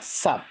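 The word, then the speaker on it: Zab: Aquí vamos a destacar la palabra Zap. Se escribe con Z-A-B corta.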